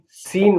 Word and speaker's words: scene: SCENE, सीन माने दृश्य। अब देखिए, जिसमें जी साइलेंट होगा उनके बारे में बताने जा रहा हूं मैं।